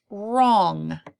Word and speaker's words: wrong: second spelling word is wrong wrong so it begins with a silent W before we start with our and then we have wrong all sigh King but with an O instead of an I wrong that's the opposite